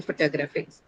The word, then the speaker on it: photographic: is stressed here right when you add the ic suffix in a word what happens to it the stress moves to the penalty syllable which is gra in this case so this is the stress syllable in photographics so then is the